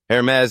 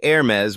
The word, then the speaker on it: Hermès: with your linguistic accuracy Hermes is not pronounced Hermes the correct way say Aires with a soft smooth finish it's French so let the sound float naturally try repeating it a few